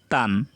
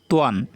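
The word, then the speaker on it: طًا: You cannot say tan. It is tuan. The correct pronunciation is tuan. To alif দুই জবর tuan, not tan. You cannot say tan. It is tuan. Tuan is correct.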